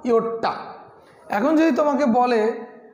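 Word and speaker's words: yotta: প্রথমে আমরা বলছি এটা এটা উচ্চারণটা হচ্ছে ইয়োটটা, উচ্চারণটা কী, উচ্চারণটা হচ্ছে ইয়োটটা, তাহলে ইয়োটটাকে আমরা প্রকাশ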